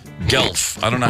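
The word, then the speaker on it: Guelph: seen this gu u e l p g gelf I don't know how you say it g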